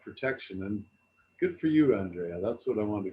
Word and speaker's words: Andrea: do a youtube search for for andrea a-n-d-r-e-a but but pronounce it andrea because that's the way to